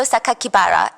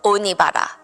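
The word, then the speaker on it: 酒鬼薔薇: The press read the kanji, so like the Japanese characters for Saito Sakakibara, and instead of pronouncing the way that he intended, the killer intended, because the kanji could mean other words, they stated to the public that the killer's name was Saito Onibara, which would be a more common surname.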